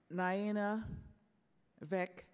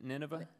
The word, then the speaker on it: Nineveh: Mr Bowen um the is it uh Nana ve plane I'm sorry uh Nina ve plane the planes in Iraq anyway uh no n n Nineveh Nineveh okay Nineveh thank you for the pronunciation and the surrounding areas